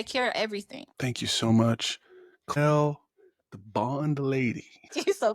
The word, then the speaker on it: Chloelle: My baby probably gonna tell me I said it wrong, because he always say Mama is, but it's Chloelle.